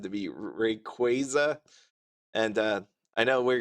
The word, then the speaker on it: Rayquaza: the Ray Rayquaza as some people pronounce it. It was actually said to be Rayquaza.